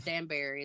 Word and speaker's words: Danbury: some people say it Dan danber or it's Danberry is the way we pronounce it Alex over there that Dan second